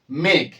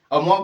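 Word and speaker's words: Meg: এরপর তাদের আরেক বোন আছে তার নাম কি মেঘ এম ই জির মগ বলে দিও না ঠিক আছে তারপরটার নাম কি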